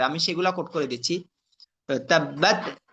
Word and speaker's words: تبت: তাব্বাত, এখানের মধ্যে তাব্বাতে অনেকে এখানে কলকলা করে ফেলবে, তো এটা খেয়াল রাখা।